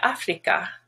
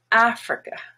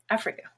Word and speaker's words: Africa: to pronounce more like africa because that's usually how it's pronounced in other languages but the first a has the stress and it's black now the i and